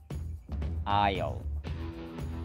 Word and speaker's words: aisle: This word has 5 letters, but its pronunciation only has 1 syllable. Ayaw.